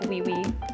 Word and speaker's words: Joui: So, oh also if you want to pronounce it correctly in French it's like we uh but we all just call it joy.